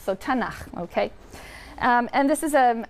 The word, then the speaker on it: Tanakh: also on that sheet Tanakh which is really the letters to and huh and they put little A's in there to make it easy to pronounce because it's hard to pronounce so tena okay and this is